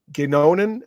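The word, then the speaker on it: Godignon: him yet Nicholas uh gonan and I'm butchering it because it's a French name it's spelled g o d i g n o n gon okay um who's a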